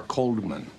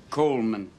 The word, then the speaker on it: Coleman: Coleman or Coldman? Coleman. The D is silent.